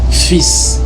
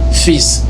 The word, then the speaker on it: fils: parle d'un petit garçon, ça se prononce automatiquement fils. Le L est devenu muet. Ça se prononce fils.